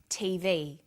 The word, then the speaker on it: TV: is pronounced separately but the last letter is pronounced more strongly because it carries the primary stress so we say us a ASAP ABC and TV listen for another abbreviation